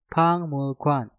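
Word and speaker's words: 박물관: Seperti contoh, pang mulkwan. Pak diakhiri dengan giok, setelah itu diikuti kata mul yang diawali dengan miem. Nah, maka gioknya kalian rubah menjadi suara nyiyeng. Pengucapannya menjadi pangmulkwan, pangmulkwan, pangmulkwan, pangmulkwan, artinya museum.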